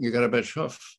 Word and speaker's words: Gorbachev: Vice President, say garbage. I said, garbage. Now say off with accent, off.